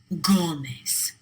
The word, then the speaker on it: Gómez: Béisbol, lápiz, árbol, Gómez. All 4 of those words end in a consonant other than N or S. They should be pronounced with the stress on the last syllable, but they're not.